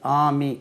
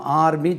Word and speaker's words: army: ஆமி ARMY ஆமி. நம்ம ஆர்மி சொல்லக்கூடாது. ARMY ஆமி.